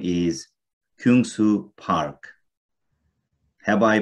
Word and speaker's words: Kyungsoo: south korea that's right and his name is kungsu park have i pronounced your first name correctly kunsu that's right you did it pretty good okay